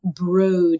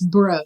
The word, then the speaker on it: Broad: And it's actually broad institute. Broad. It's spelled broad, but it's broad.